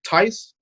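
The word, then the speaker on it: Theis: Even freaking Daniel Tice, is that how you say his name?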